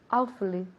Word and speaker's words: awfully: Now, se puede pronunciar con 3 sílabas. Awfully, awfully. Pero muchas veces comimos, we eat one of those syllables. Entonces se queda en casi solamente 2 sílabas.